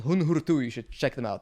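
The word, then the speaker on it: Huun-Huur-Tu: They're called Hun Hurtu. You should check them out. They're wonderful. I don't even know how to spell that.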